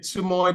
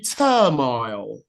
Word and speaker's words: turmoil: the first one is one speaker said turo that ought to be turmoil and the second one